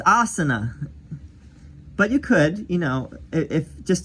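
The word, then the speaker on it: आसन: It's not asana, it's asana.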